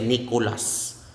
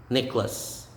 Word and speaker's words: Nicholas: then simone nicholas nicholas you don't say nicolas it's necklace nicholas that is ramon ramon